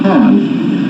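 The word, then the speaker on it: khaen: This is a Khan. It's spelled K-A-E-N.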